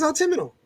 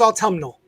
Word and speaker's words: autumnal: It really is autumnal. I never would have gotten that. I thought it was autumnal, which I guess doesn't sound very good either.